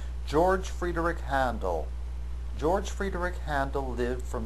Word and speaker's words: Hadnel: is an English name his last name or surname is German although it is given an English pronunciation make sure you call him handle and not anything else and notice that